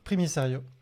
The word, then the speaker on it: Primicerio: ça ok attends attends comment ça se prononce premier sérieux très mystérieux exactement ok je vais